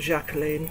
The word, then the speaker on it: Jacqueline: Or Jacqueline. I pronounce it Jacqueline. I think it's French.